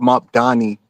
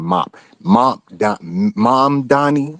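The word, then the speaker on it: Mamdani: That And Cuomo that's what Mop Donnie. I kept saying Mom Donnie. I have a hard time pronouncing his name for some reason.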